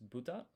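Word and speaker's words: ぶた: The the actual pronunciation is buddha or I'm not sure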